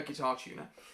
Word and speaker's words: GuitarTuna: use is guitar tuner it's spelt g-u-i-t-a-r-t-u-n-a okay so it's the word guitar and the word tuna but spelt like the fish um not a guitar tuner uh the logo of